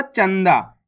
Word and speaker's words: चंदा: जैसे यहां पे देखो चंदा इसको अपन ने कैसे पढ़ा चंदा इस शब्द के अंदर आधा ना का उच्चारण हुआ है क्लियर है अब